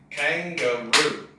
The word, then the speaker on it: kangaroo: you have kangaroo now this word has three syllables kangaroo and the primary stress is here kangaroo secondary stress is here so loudest is here second is here kangaroo kangaroo and sometimes